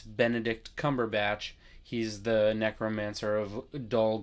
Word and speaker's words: Benedict Cumberbatch: And then both of his names have three syllables. It's Benedict Cumberbatch.